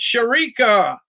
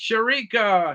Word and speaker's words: Sharika: And it's Sharika. It's Sharika. Sharika. And the thing about Sharika is that she told me I was pronouncing her name right.